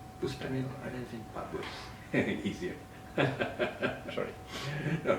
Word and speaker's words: Bustanil Arifin: How do I pronounce his name? Bustanil Arifin? Bustanil Arifin.